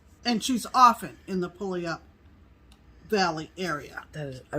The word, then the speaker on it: Puyallup: All right, you want to hear how it's pronounced? Yeah. Puyallup.